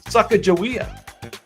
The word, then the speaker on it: Sacagawea: I pronounce it Sacagawea.